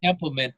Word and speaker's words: Templeman: I can never pronounce Templeman, I think, right? Templeman, Yeah.